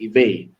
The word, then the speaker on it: Ive: expecting a female, so my dad named me Ive, Ivy, which is pronounced in other countries as Ivy, but he named me Ive.